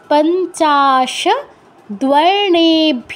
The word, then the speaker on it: পঞ্চাশদ্বর্ণেভ্যো: এতে গন্ধ পুষ্পে অকারাদি পঞ্চাশ দ্বর্ণেভ্য নমঃ। দয়ের নিচে ও আছে, তাই উচ্চারণটা কি হচ্ছে দ্ব, দ্ব, দ্বর্ণেভ্যো নমঃ, পঞ্চাশদ্বর্ণেভ্যো নমঃ, ওম এতে